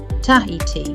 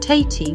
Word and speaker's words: Tahiti: and T and Toes the word Tahiti Tahiti would sound like tati without the H the sound e in the middle creates a third syllable or one extra sound this H that separates